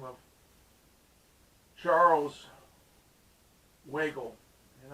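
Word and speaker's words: Weigle: the name of charles wiggle and i couldn't be mispronouncing his last name waggle uh w e i g l e anyway uh is one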